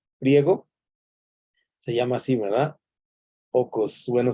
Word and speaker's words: oikos: Oikos como el yogur. ¿Recuerdan ustedes el yogur griego? Se llama así, ¿verdad? Ocos, bueno, se pronuncia ocos, pero lo podemos decir oikos.